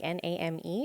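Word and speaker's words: Naim: My name is Name. Yeah. What? He's called N A I M is the way that it is spelled.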